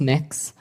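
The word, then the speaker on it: Mx.: It's pronounced mix. Um, mix.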